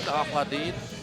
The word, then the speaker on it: Aladin: I broke it up. 2 syllables. Allah and Din Aladin.